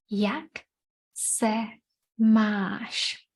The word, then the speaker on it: Jak se máš: Yesterday we said anytime we see this symbol over a vowel, we're going to read it long. So we have jak, short, se, short, máš, a bit longer.